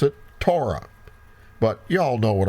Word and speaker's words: Torah: some say potato so you need to put the emphasis on the right syllable okay so if we're speaking Hebrew we would say Torah Strong's number 8451 but